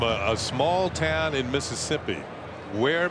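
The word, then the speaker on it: Weir: Where, Mississippi? It's spelled W-E-I-R, but there's only 535 people in the town.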